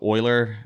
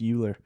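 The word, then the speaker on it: Euler: yeah I think so I think it's Oiler right which is so Oiler uh e l r is um he's a famous mathem old oh yeah old mathematician I always thought to pronounce uler Yeah well yeah it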